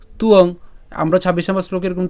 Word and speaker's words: ত্বং: এরপর নতুয়ং, এখানে ন তুয়ং, আমরা ২৬ নম্বর শ্লোকে এরকম তুয়ং শব্দটি পেয়েছিলাম। তো সেখানেও বলেছিলাম যে যদি অন্তস্থ বযুক্ত অনুসার যদি আমরা উচ্চারণ করতে যাই একসাথে, তখন তার উচ্চারণ কীভাবে করব?